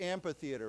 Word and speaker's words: amphitheater: Now, this word is usually pronounced with a P, amphitheater.